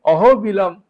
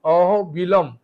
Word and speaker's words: অহবিলম: দ্বিতীয় হচ্ছে অহবিলম নিসিংহ। অহবিলা বা অহবিলম নিসিংহ। আপনি যেটা বলতে পারেন সবচেয়ে ভালো অহ অহবিলম।